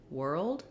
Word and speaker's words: world: It's a little bit of a schwa sound before your L, and then add your D. Old. So thinking of it, even though it's a one-syllable word, world, thinking of it as almost as two syllables, world, is going to really help you get that transition from the R to the L sound.